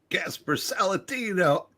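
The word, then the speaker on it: Gaspar Saladino: Well, you got to say it like, hey, Gasper Saladino.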